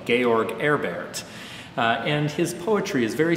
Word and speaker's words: George Herbert: out in the boonies he probably pronounced his own name georg erbert and his poetry is